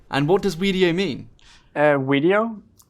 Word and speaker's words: Wedio: what does video mean video and it's taken from creating videos where it's not just one video it's us it's we with the w the community that together creates video so we create videos